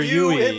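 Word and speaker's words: Yueh: Yu is going to betray everyone. And they say that before you meet Dr. Yu in the story. Yeah. Or a Dr. Yui, is that how it's pronounced?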